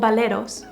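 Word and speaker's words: bolero: We also have the baleros, actually they are called baleros, okay? That's how they are pronounced.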